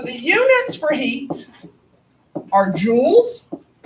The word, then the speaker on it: joules: once one time we had to compare it to jewelry cuz none of those fancy little smoking devices didn't exist but now everybody knows how to pronounce joules calories are the English